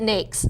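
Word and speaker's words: NAICS: NX or how do you pronounce that I pronounce it NES so I could be corrected by somebody in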